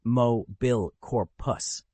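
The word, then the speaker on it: Mobilicorpus: Today's spell is Mobilic Cororpus, pronounced moil corpus.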